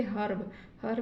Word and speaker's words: herb: तो इसको हम क्या, इसका उच्चारण क्या करेंगे, इस ई का उच्चारण क्या करेंगे, आधा अ के रूप में करेंगे। इसको क्या हम पढ़ेंगे, हर्ब मीन्स जड़ी बूटी।